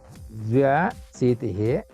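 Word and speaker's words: द्व्यशीतिः: This is the dva. Dvya. Dvya. Yeah, it is difficult. Dvya. Yeah, it is dvya. It is written here also. Dvya shitihi.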